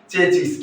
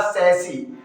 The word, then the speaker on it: chassis: चेचिस। क्या बोलते हैं साथियों? चेचिस बोलते हैं। लेकिन ये जो वर्ड है इसका करेक्ट प्रोनाउंसिएशन क्या होगा मेरे साथियों? इसका करेक्ट प्रोनाउंसिएशन होगा सैसी।